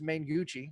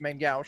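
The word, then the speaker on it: main-gauche: adventure that's in uh as it's pronounced by all the cool kids main gucci but it's main gauche is that this friday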